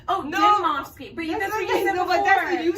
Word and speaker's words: Dimovski: Dimovski.